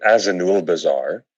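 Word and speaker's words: Azanulbizar: Jim will properly pronounce the name of this place, but is it Azanul Bazaar?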